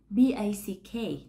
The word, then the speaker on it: back: bạn, được viết là B-A-C-K; Bạn sẽ phát âm nó với các âm sau. Đầu tiên là âm "b", thứ hai là âm "a" căng, và cuối cùng là âm cuối cùng.